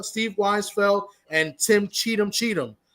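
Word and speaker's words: Cheatham: Cheetum, right?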